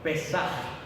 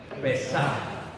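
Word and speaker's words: פסח: Pascua, se pronuncia en hebreo, Pesaj. 1, 2, 3, Pesaj.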